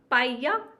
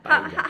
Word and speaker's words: paella: So the double L in Spain is a ja. It's a ja. It's a It's L Y. sound. It's not an L. It's a ja. Like writing. Yeah. Well, yeah. Basically. Yeah. Paella.